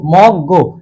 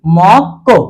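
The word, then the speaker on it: 먹고: এখন এটার উচ্চারণটা হওয়ার কথা কি মক, মিউম অ ম বাচ্চিম গিউক নিচে আসলে ক মক, আর গিউক ও গো মক গো। কিন্তু এটা হবে না কেন? আমরা জানি সত্যের মধ্যে কি ছিল গিউক, গিউকের পরে গিউক আসলে গিউকটা কি হবে সাংগিউক কর মতো, তাহলে গো না হয়ে উচ্চারণটা হবে কি কো।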